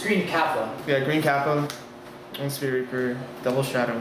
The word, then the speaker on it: Green Kappa: say this green guy say green kappa kappa 1 queen gappa green kappa because there's no k n app yeah like i was like it's it's green kappa yeah green kappa and sphere reaper double